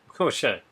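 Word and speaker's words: Schaech: s c h a e c h sh Shay sh actually this is a pretty good cast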